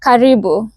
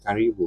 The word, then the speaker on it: Karibu: Karibu. Karibu.